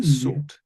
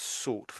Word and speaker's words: sought: Sort.